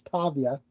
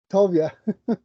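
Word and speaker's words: טוביה: So that's why you got Tobiah, even though technically it's Tavia. The B makes a V sound in Hebrew in this case. Interesting. So, yeah, it's Tovia.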